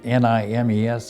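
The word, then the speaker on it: Nîmes: France, a little town called Nimes, N-I-M-E-S, I believe you pronounce that, Nimes.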